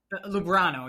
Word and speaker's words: Lubrano: You pronounce it. Is it Lubrano or Lubrano? Lubrano, yeah.